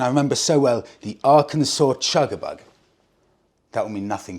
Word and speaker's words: Arkansas: With regards to me pronouncing Arkansas, well, that's wrong, Arkansas.